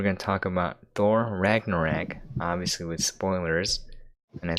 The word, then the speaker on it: Ragnarok: and the a last cuz I figure it's rag norak right but it's Ragnarok Ragnarok Ragnarok but like when you like pronounce it how it's spell it's ragnaro you